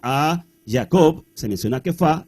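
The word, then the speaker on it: Kefa: había sido dada Jacobo cefas o quefa que es como se pronuncia en hebreo y Juan que eran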